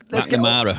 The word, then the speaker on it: McNamara: McNamara rhymes with black banana.